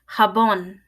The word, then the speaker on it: jabón: e sound Jota Jota jabón the letter J is pronounced again like an H and again it's a little farther back in your throat it's a sound carbone